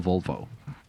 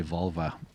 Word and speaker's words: Volvo: We drive a a Volvo. I try not to say Volva. The much funnier way to mispronounce.